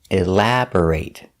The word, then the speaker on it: elaborate: take a closer look we pronounce the word elaborate with a long a sound it's a verb the pronation elaborate elaborate the stress is on the second syllable elaborate b r is pronounced bur not bore elabore but bur elabor elaborate elaborate is